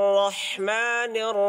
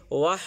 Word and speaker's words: রাহিম: বিসমিল্লাহির রাহমানির রাহিম এখানে বিসমিল্লাহির রাহ ভালো করে ধরতে হবে উপরে জিহ্বার তালুর সাথে ধরতে হবে ধরে হবে অনেকেই রটাকে উচ্চারণ করতে গিয়ে ওয়াহ বলে ফেলে ওয়াহ বিসমিল্লাহির রাহমানির রাহিম এর